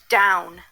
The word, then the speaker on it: down: We need to remember the second part of this word by heart. D is spelled with the letter D. Ow is spelled with the letters O-W. N is spelled with the letter N. D-ow-n. D-O-W-N.